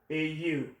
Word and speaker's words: au: If A comes into contact with le, L-E, it becomes A-U, and it's pronounced O.